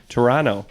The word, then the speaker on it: Toronto: as he says it Toronto cuz you don't pronounce the uh second T is that right that's